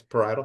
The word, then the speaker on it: parietal: And there was one bit you talked about, the parietal lobe, is that how you say it? Yes, parietal.